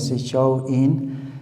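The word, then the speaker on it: Samhain: Esta fiesta que se pronuncia, show in era el fin del verano, no significaba el fin del verano.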